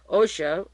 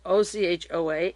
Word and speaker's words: Ochoa: He was closely associated with Pablo Escobar, Jorge, it's J-O-R-G, Jorge is pronounced Ochoa, O-C-H-O-A, and Fabio, O-C-H-O-A, Ochoa, who are brothers.